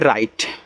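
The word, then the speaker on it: write: डब्ल्यू आर आई टी ई, इसको पढ़ते हैं राइट, राइट। और देखो जब डब्ल्यू के बाद आर हो तो डब्ल्यू आपका साइलेंट होता है।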